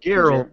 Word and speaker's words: Geralt: Geralt.